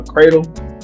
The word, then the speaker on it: Credle: So guys, again, my name is uh Cradle. Now, I know it's pronounced like a A, but it's spelled C R E D L E.